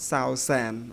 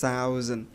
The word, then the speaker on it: thousand: like two syllable together the word thousand not south sand okay just thousand so uh letter s here it can uh it sounds like letter z here okay there's thousands thousand